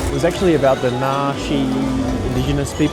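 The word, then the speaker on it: Naxi: It was actually about the Nashi indigenous people of uh Yuna province. I hope I'm pronouncing that right. I think it's na n a x i ni I think.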